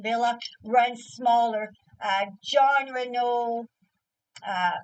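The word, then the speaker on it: Wille: uh Ellen Villa it looks spelled Wy but pronounced Villa runs smaller John Renault uh John Renault Raquel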